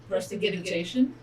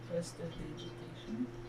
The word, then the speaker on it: prestidigitation: Prestigitation. No. Prestidigitation. No. That is how it's said.